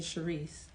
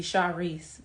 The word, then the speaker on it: Charrise: pronounce my name so i like the pronunciation charisse but it's supposed to be char reese but i only let my mom call me that or my family members because i don't like that pronunciation what did i think